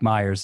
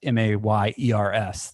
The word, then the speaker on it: Mayers: Mike Myers is. It's Mayers. That's why we were debating the pronunciation.